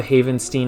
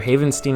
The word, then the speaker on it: Havenstein: first one being Rob havenstein Haven I I always pronounce it differently either havenstein or Haven Stein I pronounce it different every time I've heard both I say both it doesn't matter for